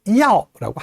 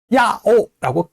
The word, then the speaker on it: 要: 이부터 아오까지 연결해서 要라고 한 번에 발음해야 돼요. 야오라고 끊어서 발음하게 되면 이음절로 발음하게 되는 거죠.